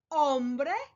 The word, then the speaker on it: hombre: words in Spanish: hambre, hombre, and hombro. As you can see, they are very similar in their spelling. All 3 start with an H, H, which in Spanish, remember, the H is silent.